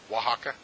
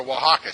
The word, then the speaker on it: Oaxaca: Has anybody ever been to, probably mispronouncing it, does anybody know how to say it, the state of Oaxaca correctly? Oaxaca? Okay, thank you. So I want to go to Oaxaca.